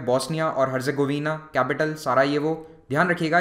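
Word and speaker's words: Sarajevo: Bosnia और हेर्जेगोविना capital सारा ये वो ध्यान रखिएगा यहां पर जे को वाय की तरह प्रोनाउंस किया जाता है इसीलिए आप नाम में देखेंगे सारा येवो होगा ना कि सारा जेवो फिर है अगला देश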